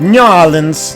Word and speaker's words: New Orleans: New Orleans. That's how they say it. New Orleans. It's one word.